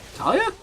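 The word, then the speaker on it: Taliyah: Talia?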